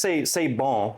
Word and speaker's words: Say Bon: No, it's just say bon. It's like a French Cajun.